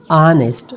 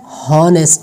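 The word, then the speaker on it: honest: Silent when it begins with H, अगर कोई लफ्ज़ H से शुरू होता है तब इस H का साउंड साइलेंट होगा। जैसे कि ऑनेस्ट, नॉट हॉनेस्ट, नहीं, ऑनेस्ट, ऑनर, आवर।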